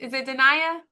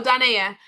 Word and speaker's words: Danae: You asking, is it Dania? Am I pronouncing that right? Dania. Oh, Danae. I like that. Danae, yes.